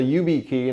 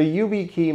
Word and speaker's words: YubiKey: You insert the YubiKey, and I'm assuming I pronounced that right, Y-U-B-I key.